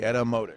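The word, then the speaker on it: Etymotic: right e Ty y m o t i edotic edotic it's a great word that means true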